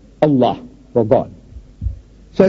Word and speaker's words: Allah: it's spelled out a l a h we spell it as a l l a h as said no man how you spell but